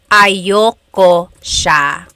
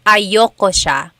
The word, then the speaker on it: ayaw ko: Usually it's pronounced ayoko siya. So if you want to sound a little bit more natural, you put everything together, ayoko siya. Ayaw ko siya is ayoko siya.